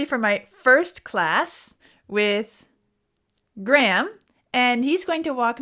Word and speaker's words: Graehme: and I thought maybe I'd ask him to spell it so we all know what it is. Okay, so it's Graehme.